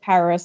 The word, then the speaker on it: PVRIS: want to pronounce it thought it was purpose for the longest time would ever question my dad to this day I've told him several times it's it's Paris it's just supposed to